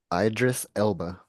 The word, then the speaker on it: Idris Elba: I don't know how you pronounce his name, but Idris Elba, I believe. what is it? Idris Elba.